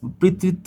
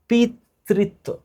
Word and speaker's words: পিতৃত্ব: কিন্তু একচুয়ালি ডিএনএর পৃত্ত, মাতৃত্ব, অপরাধী সমর্থকরণ তিনটাই সম্ভব। তিনটাই সম্ভব। তিনটাই সম্ভব। তিনটাই সম্ভব পিতৃত্ব উচ্চারণটা হচ্ছে পিতৃত্ব কোনটি পিউরিন এই যে